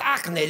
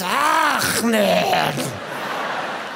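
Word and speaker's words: Achmed: It's not Ahmed, it's Ahmed.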